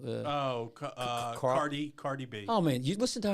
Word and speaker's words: Cardi B: that Carly I listen that how do you pronounce Carly B what's her name oh uh cardi cardi B oh man you listen to her she is